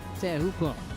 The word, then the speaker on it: Teahupo'o: I talked to Michel Perez about it for a while, and he was like, yep, let's try to say it properly, Teahupo'o.